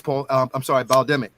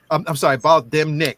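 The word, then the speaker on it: Bal'demnic: had, and that was Baldemic. Baldemnik. That's the way it's pronounced, Baldemnik. So that is a planet.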